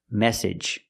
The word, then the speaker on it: message: practice the three pronunciations the first one message use the edge sound this is the most